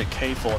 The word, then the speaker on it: K9999: 道 K9999 的正确发音是 K49，这里我就不多讲了。